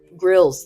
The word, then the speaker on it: Grylls: like a bear grylls is that how you say his name grill it's grills it's it's useful like that